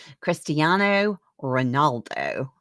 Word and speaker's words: Cristiano Ronaldo: Which is not true about the soccer player great Cristani I said it earlier, Cristiano Ronaldo. I just butchered that, and I do know how to say his name.